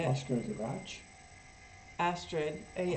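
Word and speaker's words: Astrid: lingren I think that's how you say it Asar G ASD a s r i d and she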